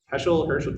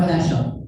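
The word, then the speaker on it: Heschel: you know well known so Hershel did I say it right sorry Abraham Joshua hashel thank you so I read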